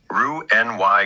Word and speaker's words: Roux-en-Y: Roux-en-Y gastric bypass, pronounced Roux-en-Y.